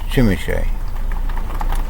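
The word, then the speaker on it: Przemyśl: where am i um shimmy shay spelt p r z e m y s l and pronounce chimichae um it's a polish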